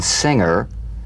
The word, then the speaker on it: singer: For instance, this is the difference between the soft G in singer and the hard G in anger, right?